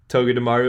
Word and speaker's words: Togedemaru: How do you pronounce it? Togedemaru.